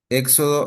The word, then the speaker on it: éxodo: Éxodo está mal porque lleva acento en la E y es con X. Ok, está mal porque lleva acento en la E. eh, y es con X, es correcto. Es con X exclusivamente.